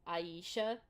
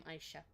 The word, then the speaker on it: Aisha: Kept pronouncing it as Aisha. A lot of people first pronounce it as Aisha.